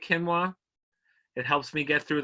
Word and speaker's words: quinoa: crowns key so it's it's quinoa not quinoa are you serious are you sure quinoa quinoa yeah they said in Hebrew they say ki Noah just so you know